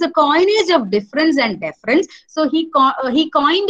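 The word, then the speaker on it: différance: By making the letter A silent and by making the new word difference be pronounced as the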